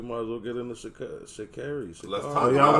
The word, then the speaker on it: Sha'Carri: She said it's Sha'Carri, by the way.